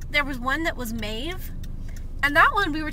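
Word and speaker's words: Maeve: nothing wrong with it so it's spelled m a e v e mave and I so it's almost like mauve whatever I know but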